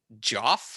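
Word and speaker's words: Geoff: um i'm sorry can you say that name again joff i'm assuming it's actually pronounced jeff but it's g-e-o-f-f and if you spell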